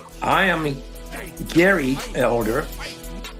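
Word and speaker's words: Gerry: correct pronunciation I am Gary Elder spelled with g e r r y should have been spelled g a r y but I wasn't here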